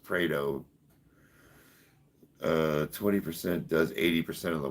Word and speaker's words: Pareto: Am I mispronouncing it? I believe it's just pronounced Pareto.